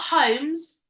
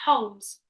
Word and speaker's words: Holmes: Yeah, it's a silent L. So it's not Holmes, it's Holmes.